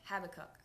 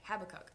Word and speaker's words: Habakkuk: I think that's how you say it, Habakkuk. Me and Pablo literally had a conversation before this thinking, okay, how do we really say this? But that's what Google said, Habakkuk.